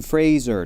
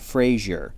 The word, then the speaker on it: Fraser: It's like when I correct people, it's Brendan Fraser, not Frazier.